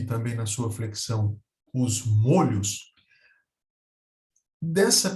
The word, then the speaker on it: molho: mesmo e não a Apesar dessa distinção de pronúncia não há uma marcação gráfica na palavra não há nenhum acento que marca essa diferença de pronúncia é o molho e moro na pronúncia um time fechado molho e também na